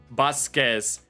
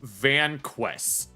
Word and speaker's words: Vasquez: someone else's video, and they mispronounced the name Vasquez as Vanquest. Like, here, I will show you this name. The AI content channel mispronounced this name as Vanquest instead of Vasquez.